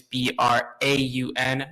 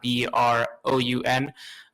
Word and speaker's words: Braun: That is Braun, not Broun.